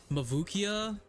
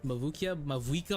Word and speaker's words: Mavuika: Mavukia? Fucking that girl from Genshin? Mavuika?